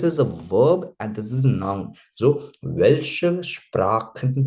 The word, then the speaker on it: Sprachen: This one, Sprachen and Sprechen. Sprachen, khan wala sound, that is particularly language. Sprechen wala sound, that is to speak.